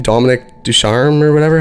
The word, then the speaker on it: Ducharme: Dominic Ducharme or whatever? How do you say his name? Dom Ducharme, assistant coach of the Montreal Canadiens.